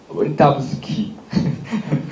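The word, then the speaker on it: Wildavsky: 프레스만과 와이다브스키. 이게 약간 러시아식 발음으로 해줘야 돼.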